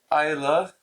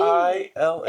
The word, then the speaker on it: Oila: Isla and Something Shiny. He doesn't say it right ever, so good job. It's an O. It's an E. O-I-L-A.